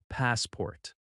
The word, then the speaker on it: passport: The first word is passport. Listen carefully. Passport. The stress is on the first syllable. Pass-port. That first part is stronger and a little longer. The second syllable is softer.